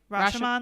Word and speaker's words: Rashomon: Where they all have, am I saying it right? Rashomon, like the movie Rashomon?